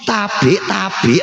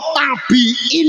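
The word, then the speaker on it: Tabi'in: Misalnya, jika Anda ditanya tentang "tabik-tabik rasul," apa arti "tabik"? Anda tidak akan tahu jika Anda belum mempelajari bahasa Arab. Ternyata pengucapannya adalah " Tabiin," tetapi orang Jawa mendengarnya sebagai " tabik-tabik rasul."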